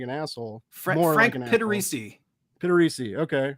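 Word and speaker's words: Pittarese: I don't know how to pronounce his last name. I don't want to sound like an asshole. Frank Pittarisi. Pittarisi.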